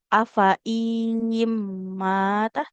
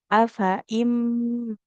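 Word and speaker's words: أَفَإِن مَّاتَ: Tidak afaiim matah, tapi afaimah. Jadi tidak usah kita panjangkan huruf hamzahnya ya.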